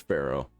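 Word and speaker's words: faro: It is pronounced Pharaoh.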